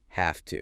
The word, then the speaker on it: have to: The source observes that have to is very often pronounced like have to. Have to. Seriously, like the word have h a lf pretty much. Yeah. Without the v sound in have at all.